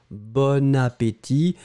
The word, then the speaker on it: bon appétit: un appétit c'est masculin l'adjectif est bon mais on fait la connexion donc on prononce bonne appétit vous entendez bonne mais